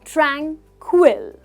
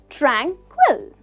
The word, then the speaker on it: tranquil: that well it's tranquil the pronunciation is tranquil so we stress the first syllable that is Trang tranquil say it with me tranquil perfect well